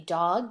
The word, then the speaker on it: do: of tricks do a dog can do lots of tricks do is a tricky one because it kind of looks like two T oh it rhymes with two but it doesn't rhyme with so s oh so says